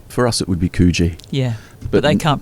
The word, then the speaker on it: Coogee: Bronte, and for those people over there, Coogee. For us, it would be Coogee. Yeah. But they can't pronounce it properly.